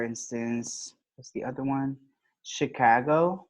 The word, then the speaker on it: Chicago: what's the other one Chicago right for example the state we don't say Chicago right that sounds very Latin American no say Chicago Chicago okay so those are exceptions